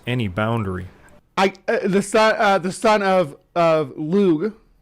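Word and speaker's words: Lugh: The son of Lug, It's like a G sound, sort of, but it's not as harsh as the anglicized version of it. So you want to say it like with sort of a soft G, but not the soft G that you're used to. It's like lug, like at the end. It's not g, but it's not j either. It's lug.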